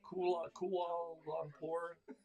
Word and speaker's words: Kuala Lumpur: Kuala Lumpur Hilton.